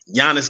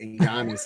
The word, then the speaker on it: Giannis: I just like the fact that you're actually saying and pronouncing his name right, Giannis instead of Giannis.